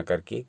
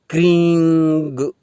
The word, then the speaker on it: क्रीं: या हमेशा ही आप इसमें ग और म का उच्चारण न करके केवल इस बिंदी का ही उच्चारण करें, यानी क्रीं क्रीं क्रीं, यानी इसमें क्रींग ग न जोड़ें या क्रीं म न जोड़ें, यानी क्रीं इस बिंदी को उच्चारण करके छोड़ दें।